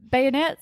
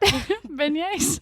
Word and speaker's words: beignet: a good burger funnel cakes love me some bayonet is that who say beignet bayonet is a